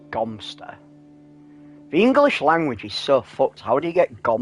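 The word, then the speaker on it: Godmanchester: God Manchester is pronounced Gumpster.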